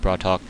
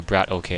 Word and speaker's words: BratOk: to the 12:00 position it's going to be hard for me to say that I'm I know I'm going to mess that up a couple times as it's just the way the capitalization it makes it looks like it's more like BR or brat okay as opposed to brat Haw coming in we